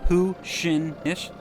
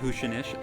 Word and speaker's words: Huisinis: It's pronounced Huisinis, in case you're wondering, and I'm just going to go ahead and apologize for butchering it.